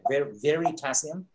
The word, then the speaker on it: Veritasium: It's spelled like the element potassium, right? Veritasium. And I happened to see a video of him once, and he's one of those guys.